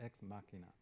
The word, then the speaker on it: Ex Machina: is ex machina machnia is that how you pronounce it ex machina yeah so how many people have seen that